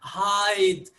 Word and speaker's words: hide: So see how the e at the end, although it's not pronounced, is affecting the vowel sound before it. It makes it longer. So hid, I, becomes hide, I.